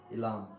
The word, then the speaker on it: Ilam: Ilam.